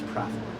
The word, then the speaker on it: Praethor: I guess actually the better pronunciation of that is Prathor.